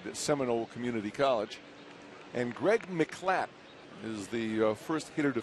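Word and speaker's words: Miclat: Greg McClatt, spelled M-I-C-L-A-T, but he said pronounce it as if there was no I.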